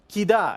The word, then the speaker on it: Kida: Kida, exactly. Perfect. And that's because an A is always going to be stronger than an I, unless they've marked it